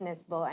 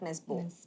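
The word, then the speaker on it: Nesbø: So, I actually heard Blood on Snow by Joe Nesbo, and I also did not know that his name was pronounced Nesbo and not Nesbo.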